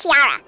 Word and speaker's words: Chiara: and um i think her name is actually pronounced chiara yeah i think it's chiara instead of tiara or tiara whatever i pronounced previously so knowing that now